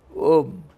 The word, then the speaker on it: Om: Inwardly it is 3 syllables, but when you chant it becomes 1 syllable. 1 syllable, Om, but it is composed by 3 alphabets.